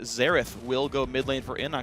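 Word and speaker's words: Xerath: the pre Nerf air the right way to say it zerth will mid lane for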